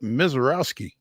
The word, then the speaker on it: Misiorowski: are joined now by Nashville Sounds reliever Jacob MISIOROWSKI.